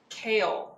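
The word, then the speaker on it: Chaol: Kale. Is that how it ch? It's like kale but with a little bit of a O. Kale.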